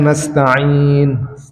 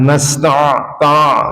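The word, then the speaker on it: نستعين: Nasta'in nastain biasa aja harusnya bukan nasta ta gitu.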